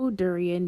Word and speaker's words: Dorian: at least to me sounds like it would be pronounced the way you pronounce the fruit especially considering the type